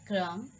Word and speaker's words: crumb: the B is silent, the letter B is usually not pronounced after M. Do you remember that? At the end of a word, like comb, bomb, thumb, climb, thumb, tom, crumb, and lamb.